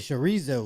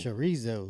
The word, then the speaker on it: chorizo: __ ] He said chorizo. He said chorizo. Charizo. Don't let me hear you pronouncing it like that, Norbs.